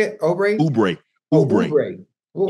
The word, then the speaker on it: Oubre: Oubre. Well, why he got an O there? Shit. It's silent.